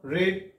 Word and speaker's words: read: Yasa pronunciation, lihtanna V1, V2, V3, haa lihtanna RE, EDS lihtat matra taza pronunciation V2 ani V3 saati red hota. Aani ithe aapan getoi V3 manun yala uccharan karai cha aapla la red. Kaya karai cha? Red. Read nahi.